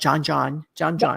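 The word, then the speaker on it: djon djon: Now, you have a dish in here called John, D-Jon, not John. Is that right? Perfectly pronounced.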